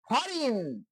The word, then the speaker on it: foreign: হরিণ, FOREIGN, ফরিন শব্দের অর্থ হচ্ছে বিদেশি।